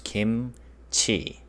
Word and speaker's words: 김치: 김, 그, 이, 무. So that becomes kim, and ts and e combined becomes chi. So altogether it becomes kimchi.